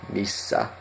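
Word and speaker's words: missä: Missa, missa. No, remember the double S. Missa.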